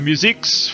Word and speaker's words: Musix: The first guest we have is Musix from Germany.